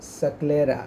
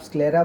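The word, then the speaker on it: sclera: हैं, इसको कहते हैं सक्लेरा। ऐसे आप स्क्लेरा बोलते हो पर इसका रियल जो प्रोनाउंसिएशन होता है वो सक्लेरा होता है।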